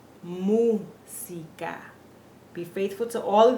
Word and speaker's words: música: Música. And notice that there's no Z sound. In Spanish in English we say music, like it's a Z. In Spanish, our S's are pronounced S. Música. Música.